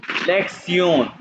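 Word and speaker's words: Lektion: देखिए ये मैंने बताया था कि लेक्स ये टी आई ओ एन इसको आपने सिलेक्शन नहीं करना इसको प्रोनाउंस करते हैं सयन लेक्सन लेक्सन वन ये काउंटिंग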